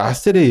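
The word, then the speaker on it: אשר: 이제 히브리어로 하면은 정확한 발음 아샤르입니다. 아르 하면서 이게 후을내는 건데 어 이제 기쁜 행복한 축복받은 뭐 이런 뜻을 가지고 있습니다.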